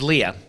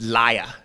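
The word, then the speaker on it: Lia: And I don't think it's Leah. I think it's pronounced Laya.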